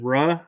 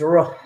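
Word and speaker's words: روح: Is it Ruh? Ruh, which means Ruh? spirit in Arabic. Ruh. Roll your tongue. Ruh. It's not Ru, it's Ruh.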